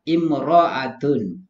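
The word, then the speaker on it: امرأة: Jika ditulis sebagai almarah tanpa alif lam, tanpa alif atau alif lam di awal, lalu bagaimana cara membacanya? Imra'atun.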